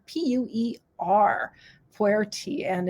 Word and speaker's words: Pu'er: And there's also pu'er teas, which are a specialty tea from China.